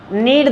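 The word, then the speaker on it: knead: नीड the dough कहते हैं। नीड the dough. नीड इट the dough. ये silent रहेगा यहां पे।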